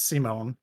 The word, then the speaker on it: Simon: there in the center his name is simone it's spelled simon but they say simone so i'm just like okay